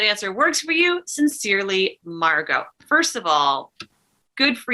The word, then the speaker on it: Margot: My name is Margot, pronounced Margot. The T is silent, comme en français.